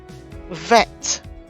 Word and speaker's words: Vet: Vet is the same as bet without the dagesh. It is the third letter. It is pronounced as a V, as in the word cave.